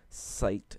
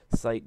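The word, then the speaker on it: SciTE: And I do know that at one point it asks you if you want to install the Site IDE, S-C-I-T-E is how it's spelled, and personally I chose not to install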